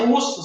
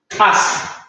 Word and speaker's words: us: Entonces, esto no se pronuncia us, sino como les decía, as.